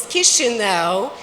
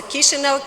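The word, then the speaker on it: Chișinău: Our capital is Kishino. If you don't know how to pronounce it, you remember kiss me now. So Kishino, kiss me now is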